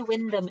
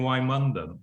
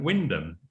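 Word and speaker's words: Wymondham: enjoy it and and you say win them as if you could even spell it i know well i did spend a few weeks saying why london but um i i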